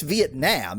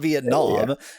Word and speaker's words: Vietnam: The actual pronunciation in Vietnamese is quite a harsh ah. Like it's Vietnam. It's not Vietnam, and it's like this